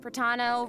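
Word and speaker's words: Protano: everyone, I'm Pratano, rhymes with Capitano, the voice Pratano.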